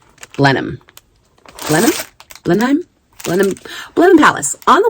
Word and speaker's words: Blenheim: I will write it on the screen because I have said it wrong multiple times. Oh, I have it in my notes. I have it in my notes and it is Blenham. Blenheim.